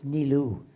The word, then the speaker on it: Nilu: I believe it's Nilu. It's actually Nilufar, but since no one can pronounce it, I shortened it to Nilu.